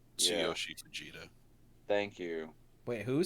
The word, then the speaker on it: Tsuyoshi Fujita: I'm not going to pronounce I this found it. name correctly. Yeah, Tsuyoshi Fujita.